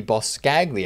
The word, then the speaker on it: Boscagli: content yesterday including the boss scagli i think that's how you say his name the uh oliver olivier